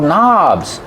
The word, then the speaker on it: knobs: These are called knobs. You turn on the water and turn off the water with the knob. Remember, knobs has a silent K at the beginning of the word.